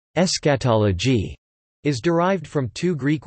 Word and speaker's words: eschatology: The word eschatology, pronounced eschatology, is derived from two Greek words meaning last and study, eschatos last, and logia, lit.